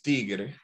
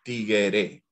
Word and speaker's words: tigre: una persona nosotros decidimos la palabra bien pronunciada es tigre pero nosotros decimos tiguere tigre el tigrito un